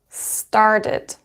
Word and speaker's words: started: Started. Because start finishes into t, and that is why it will be started.